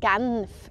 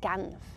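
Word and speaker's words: Genf: of course in Geneva which I call Camp and yes I say gums with a um and many Swiss people will laugh at me because it's very particular for my dialect Isaac and a lot of people would say ganf instead ganf and if you speak French of course people who live there they say genev but that's French I'll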